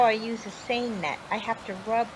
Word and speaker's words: seine: It rhymes with strain, and I know you know what strain means. When you make pasta, you strain out all the water. So this is the seine net, and it does the same kind of thing.